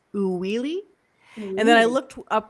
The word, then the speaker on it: Uili: I was like, okay, how do I pronounce that? It's Uwili.